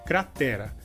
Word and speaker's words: cratera: No caso, em espanhol, a sílaba mais forte seria a primeira, cra, e em português seria a sílaba t.